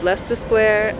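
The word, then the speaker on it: Leicester Square: big thing was going down to the squares Lester square and trafala square it's pronounced Lester Square even though it's spelled Li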